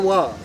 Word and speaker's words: Waugh: Waugh. How do you spell that? W-A-U-G-H. Spells like laugh. Okay. Sounds like law.